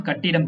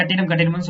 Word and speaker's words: கட்டடம்: இது ரைட்டு தான், கட்டிடம் கிடையாது. நம்ம தமிழ்ல உச்சரிக்கல அது கட்டிடம்னு சொல்லி பழகிட்டோம். கட்டடம்.